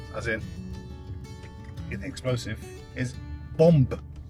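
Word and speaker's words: bombe: And uh what I learned today was uh was the French word for bomb as in the explosive is bomb. Pronounce the B.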